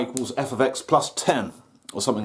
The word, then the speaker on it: f(x): see when you do this topic uh it's pronounced f of x and sometimes you'll get a question and there'll